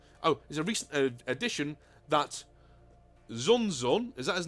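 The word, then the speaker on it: Kzuxun: I'm going to call him Kazun. I'm going to call him Kazun, alright?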